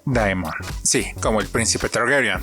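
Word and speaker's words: daemon: pero no es casualidad en inglés se pronuncia Diamond sí como el príncipe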